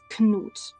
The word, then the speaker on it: Knut: and in this case, you can't get away with not pronouncing the K as you usually do in English with ni or night. In this case, you have to pronounce the K. It's Knut.